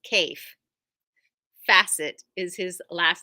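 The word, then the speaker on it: Kaffe Fassett: have Fabric in from Cai facet his name rhymes with safe asset so if you see Ka a ffe it's Cai facet is his last name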